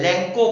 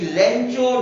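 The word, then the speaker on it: Lencho: और नाम है उसका लेंचो। बहुत सारे लोग, बहुत सारे बच्चे इसका प्रोनाउंसिएशन जो है लेंको कहते हैं, लेकिन ऐसा नहीं है, हम लोग इसको लेंचो कहेंगे।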